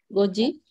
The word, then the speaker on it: goji: Aquí es ji, no shi. Si tú dices shi, es esta sílaba. En cambio es ji, del que marca la hora. Go es el número 5, ji es el sufijo que marca la hora. Sería entonces goji, con el tenten.